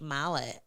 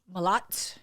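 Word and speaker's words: Malott: Um, and I actually got to talk to this guy um before he fought, Mike Mallet. Um, Malot. Malot. He actually corrected us on how to pronounce his name, but he fought um, uh, was it Charles Raky?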